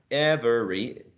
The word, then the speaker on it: every: Now, no one ever says every, right? Every. It's only 2 syllables.